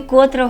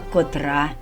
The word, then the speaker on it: котра: І не котра година, а котра.